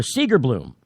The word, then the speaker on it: Segerblom: And in fact, Senator Segerblom, I think is how you pronounce his name.